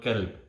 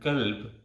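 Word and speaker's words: كلب: For example, the word qalb and the word kalb. It's a very fine difference in pronunciation. But qalb with a big qaf, it means heart, and kalb with a small kaf, it means dog.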